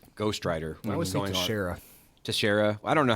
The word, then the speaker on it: Teixeira: There's a major league pitcher named Teixeira, and it's spelled the same, and I'm always like, that's gotta be it, right? Yeah, it's Teixeira.